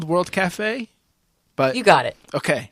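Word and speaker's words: World Cafe: Actually, there is no accent. Technically, for some reason, they didn't put an accent on the E at the end of cafe. So if you say café, I suppose you're reading it properly.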